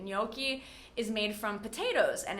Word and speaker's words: gnocchi: The G is silent, and we do not